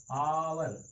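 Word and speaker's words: hour: नहीं, उसके लिए नहीं, यहाँ पर उच्चारण के हिसाब से लगाया गया है। हावर आवर आवर, देख रहे हैं, उच्चारण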